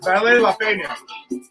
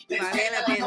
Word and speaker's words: vale la pena: The pronunciation is okay? Say it again. I said, Belé La Peña. Vale la pena.